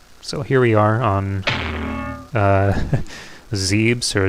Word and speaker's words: Zebes: So here we are on Zebes or Zebs. I've heard many different pronunciations. I've always called it Zebes. I think it would always be that for me. But I'm pretty sure they say it differently.